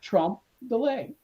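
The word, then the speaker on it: trompe-l'œil: if deliberate by the artist is called a trump delay pronounced trump delay triple a uh trick of the eye which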